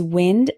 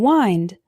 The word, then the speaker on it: wind: Christmas present tear tear our next one is wind and wind wind means moving air for example my dog